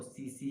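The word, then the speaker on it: tsetse: फ्लाई कहा जाता है, जहाँ पर टी जो है वो साइलेंट है, इसको सीसी ही पढ़ते हैं, ठीक है।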